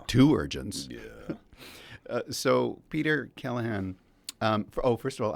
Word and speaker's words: Keleghan: to correct them no that is the correct way of saying it's Kahan yeah come on if you were to pronounce it correctly if you pronounce it the the way the Irish pronounce it it's Kahan how do you pronounce